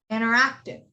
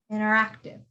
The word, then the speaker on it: interactive: one okay interactive yes interactive interactive the and the t is silent because it comes after an n could you do the